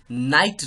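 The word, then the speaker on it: knight: हिंदी अब ध्यान रखिएगा के के बाद जहां भी एन आता है तो वहां पे के साइलेंट हो जाता है उसको नोज पढ़ते हैं जैसे आपने आईपीएल में कोलकाता नाइट राइडर्स के नाइट लिखा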